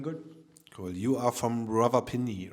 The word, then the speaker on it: Rawalpindi: You are from Rawalpindi, right? Yes. Did I pronounce that right?